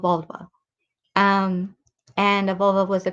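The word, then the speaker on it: Völva: practitioner or the Volva, which sounds very similar to the female part. I know, but that's how you pronounce it. So Volva.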